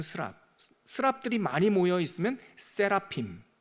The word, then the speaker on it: 세라핌: 스랍들이 많이 모여 있으면 세라핌.